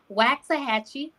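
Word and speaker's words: Waxahachie: okay so make sure y'all see that noi wax a Hatchy there we go you did you said it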